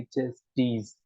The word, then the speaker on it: chastise: ये हमारे पास जो है वो पढ़ने के लिए तो आप इसको चेस्टीज जैसे भी पढ़ लो, लेकिन प्रोनाउंसिएशन होगी चेस्टीज। TYZE होती है ना, चेस्टीज, चेस्टीज, चेस्टीज।